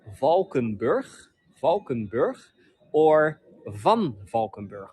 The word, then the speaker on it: Valkenburg: just gonna say it on the Dutch way Dutch way it is Vulcan birth Falcon birth or vom